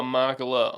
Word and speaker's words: Machala: like sort of backstage past vip it's makala on patreon correct it is yes let's be